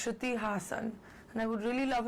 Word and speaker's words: Shruti Hassan: god the whole name i hate it when people mispronounce my name and my surname so i get shruti suruti strudi hassan no it's shruti hassan and i would really